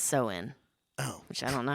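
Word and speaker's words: Samhain: that she's talking about I would say it Sam Hine but apparently it's pronounced soen oh which I don't know how you get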